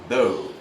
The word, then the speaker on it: bow: It's going to be bow. Like bow tie or like palaso or pana, it's bow.